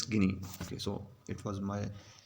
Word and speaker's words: Guinea: equatorial guinea or no it's guinea it's not kinah it's guinea okay so it was my you know fault i was pronouncing it wrong only because you may be